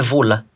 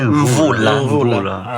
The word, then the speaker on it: Mvula: Mas ele disse que não é Vula, é Mvula.